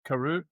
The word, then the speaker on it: Karoo: Karu. Karu.